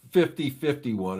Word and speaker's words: 50501: it's 50-51 is the way it's supposed to be pronounced.